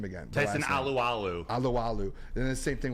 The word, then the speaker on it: Tyson Alualu: Can you pronounce that name again? Tyson Alualu.